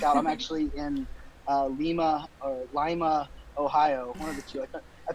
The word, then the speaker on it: Lima: happen to work out I'm actually in Lima Lima Ohio I pronounced it wrong earlier today but I was